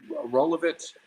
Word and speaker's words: Rolovich: How do you pronounce his name? So I did the Rolovich.